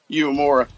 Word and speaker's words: Uemura: Uemura. Yeah. Well, technically, it's like Uemura.